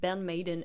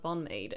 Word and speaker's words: BAND-MAID: I was like, Ben Maiden and not Bonade.